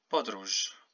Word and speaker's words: podróż: Okay, so this Z with the dot is pronounced like the J in English. So, podróż.